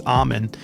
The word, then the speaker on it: Amen: It's Amen. Anyways, thanks for the correction there. I like to pronounce it the right way.